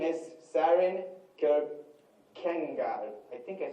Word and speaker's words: Kierkegaard: And his name is Søren Kierkegaard.